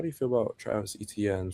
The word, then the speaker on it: Etienne: How do you feel about Travis Etienne saying his name is pronounced H-N?